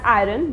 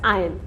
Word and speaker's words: iron: people call it as iron but it is not pronounced as iron it is pronounced as iron the r word is silent in this word for example i forgot